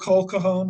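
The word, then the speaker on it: Claude Cahun: in text so anyway I thought coal Cajon I believe is how we we pronounce her name she was a uh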